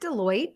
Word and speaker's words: Deloitte: Is it Deloitte?